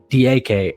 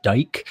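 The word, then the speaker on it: Dike: Chimere Diake. I know I said it wrong. I know you don't pronounce it Dyke, but he's a wide receiver out of Florida.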